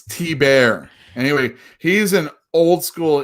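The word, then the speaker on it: Thibert: Thibbert is how you don't say his last name. Okay. But that's how you spell it. Thibbert. But it's T-Bear.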